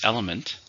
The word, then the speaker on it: element: Number 2 is element. Element is a part of something. It's a noun, countable noun. How many syllables in element? 3, stresses on the first syllable.